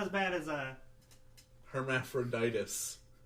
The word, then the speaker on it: Hermaphroditus: I'm sure it's not as bad as Hermaphroditus. Yeah. Not hermaphrodite. Okay. All right. I messed up a syllable. The very end.